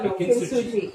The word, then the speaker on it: Kintsugi: Kintsugi. Okay, I've been pronouncing it Kintsugi. No, Kintsugi.